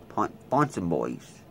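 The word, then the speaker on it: Ponsonbys: Pet Boys, Fonson Boys. That's how that's pronounced.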